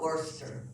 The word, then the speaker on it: Worcester: They call it Worcester. You eliminated 2 more syllables there.